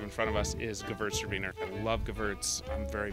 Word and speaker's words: Gewürztraminer: It's Gewürztraminer. The W is a V, right? It is.